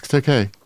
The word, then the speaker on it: Takei: No, it's Takei. He used to go on interviews and say it's Takei, like gay.